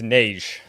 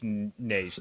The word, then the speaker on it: Nagy: It's Nagy.